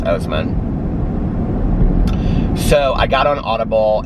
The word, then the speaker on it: Oseman: It's either Osman or Oseman, but I think it's Oseman.